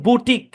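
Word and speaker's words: boutique: হ্যাঁ সম্পূর্ণ শব্দের উচ্চারণ বুটিক কি উচ্চারণ বুটিক এটা বাউর হইতে পারতো বউ হইতে পারতো কিন্তু না কোনটাই নাই এটা উচ্চারণ হবে বু ঠিক আছে বুটিক বুটিক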